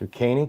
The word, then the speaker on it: New Caney: Boxer says pronounced New Caney, gotcha.